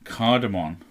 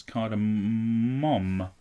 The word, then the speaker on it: cardamom: the word card cardamon cardamon was the answer it's cardamom yeah what I just said yeah so it doesn't really rhyme with cinnamon it's it just sounds